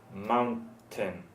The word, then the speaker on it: mountain: one you wrote here so you can say you have pain but then you also you also say mountain mountain mountain mm-hmm Mountain thank you